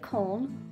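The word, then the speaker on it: Köln: favorite german city cone now you can pronounce this the german way cone or the english way cologne i always say clone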